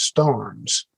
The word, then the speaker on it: Stearns: that the way that the old preacher himself pronounced his name and certainly the way the descendants of his brothers have is Stars they spelled that s t a r n